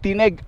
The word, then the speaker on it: Tineg: place wow ih heart tinig Sir anong tamang pronunciation yan ih heart tinig tinig Tin Tin tineg Abra guys so Tingan niyo naman napakaganda dito